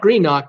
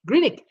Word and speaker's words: Greenock: me here the the port is called is pronounced or spelled green on G R een Ock Greenock but you don't call it green knock no it's Greenwich it's Greenwich Greenwich Green ik what a heck do I know you know